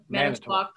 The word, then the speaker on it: Manitowoc: in, this area in how do you say, Manitowoc? Am I saying that right? Manitowoc. Yes.